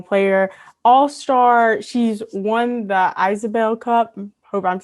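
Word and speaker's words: Isobel Cup: really looking forward to chatting today it's actually isabelle cup but a lot of people call it call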